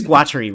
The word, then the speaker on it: Guattari: be's book about uh it's Guaty right I'm right okay good okay all right I'm pronouncing it properly but um yeah and